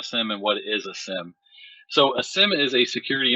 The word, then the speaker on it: SIEM: it's pronounced sims so you don't uh phonetically put the ie sound in there but it's utilized as